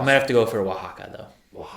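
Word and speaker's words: Oaxaca: I might have to go for Waka though. Wajaka. I don't know that one. Yeah. Nice. It's spelled like O A X O C.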